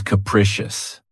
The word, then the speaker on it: capricious: of my favorites, is capricious. This word has 3 syllables, and the stress is on the second syllable. Keep in mind that the first syllable has that schwa sound K, precious.